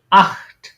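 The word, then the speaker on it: acht: যেকন একটা থাকবে তখন এটা উচ্চারণ হবে একদম খ এর মত এইযে এখানে এখানে যেটা দেখেছেন না এই খ এর মত উচ্চারণ হবে যেমন আখট এটা কি আট আখট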